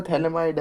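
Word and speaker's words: phthalimide: वैसे प्रोनाउंसिएशन तो थैलेमाइड है।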